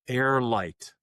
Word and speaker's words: Heir: minutes, is called uh Air Light, which where it's spelled H E I R. So, as in um you know, your heirs in in a estate planning sense.